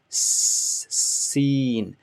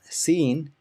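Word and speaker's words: سين: Same place, place the tip of your tongue at the bottom of your lower jaw, lower teeth, and make the sound like hissing of a snake. S to this, seen, Seen.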